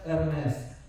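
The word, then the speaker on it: Hermès: a brand called Hermes I've been told it is to be pronounced as Hermes okay Hermes recently the real making value of this thing has come out has $1,100 to make it.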